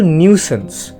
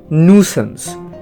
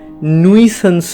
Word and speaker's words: nuisance: আরেকটা জিনিস, কথাটা কিন্তু নিউসেন্স বা নুসেন্স, কিন্তু কখনোই নুইসেন্স নয়। NUI দেখে নুই উচ্চারণ করো না।